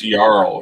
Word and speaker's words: jarl: do skin changer uh the jarl pronounced yarl right yarl whatever you know I'm